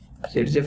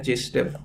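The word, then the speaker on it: Zaitsev: सेटजेफ rule नहीं है, सचमुच में यह है जेस्टेव रूल। तो असली नाम जेस्टेव है, वो प्रोनाउंसिएशन का कुछ चक्कर था भाषा का, तो इसे इंग्लिश में लिखते हो तो सेटजेफ पढ़ा जाता था।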